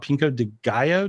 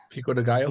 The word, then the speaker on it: pico de gallo: pico what's it called pinko de gallo did i say it right pico de gallo yeah yeah okay taco raised